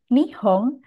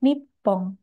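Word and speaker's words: 日本: Misalkan pada gabungan kanji ini untuk istilah Jepang bisa disebut nihong atau bisa juga dibaca nippon. Nihong itu adalah cara baca yang lebih baru daripada Nippon.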